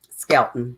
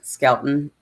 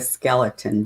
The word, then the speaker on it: Skelton: I was saying the Skeleton brothers.